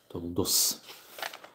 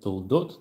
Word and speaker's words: Toldot: Toldos. I like they pronounce unusual. Mm-hmm. It's not the Ashkenazi. Ashkenazi. Because Tet is most times. Yes. So instead toldot, they say toldos.